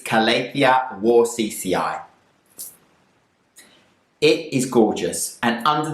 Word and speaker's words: Calathea warscewiczii: So this Calathea is called Calathea warscewiczii, and very difficult name, but I'm sure the pronunciation is Calathea warscewiczii.